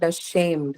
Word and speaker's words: ashamed: Um, Stress should uh, be on shay. Again, the same reason is the reason was would be that the first one is a schwa sound, right? Ashamed. So the second syllable take the stress here.